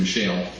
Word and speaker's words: Michel: Some people pronounce his name Michel.